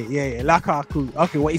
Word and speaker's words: Lukaku: Yeah, yeah, Lukaku.